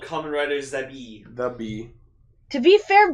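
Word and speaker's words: ザビー: which is called Kamen Rider Zabi. The bee. To be fair, bee and wasp are the same word in Japanese. It's the bee, but they pronounce it Zabi.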